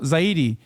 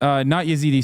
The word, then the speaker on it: Zaidi: Zaidi, not Yazidi. Sorry, not Yazidi. They are Zaidi.